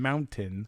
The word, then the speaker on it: mountain: once upon a time forgot to pronounce the T in mountain.